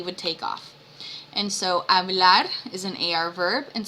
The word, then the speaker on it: hablar: And remember that H is silent in Spanish. So it's not hablar, it is hablar.